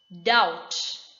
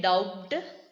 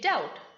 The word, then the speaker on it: doubt: the second rule says b is usually not pronounced before the letter t so example doubt you don't say dubbed you say doubt just like b is not there d o u t